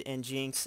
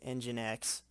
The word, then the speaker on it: nginx: of course I did in Jenks as well or sorry nginx I believe this pronounced but I not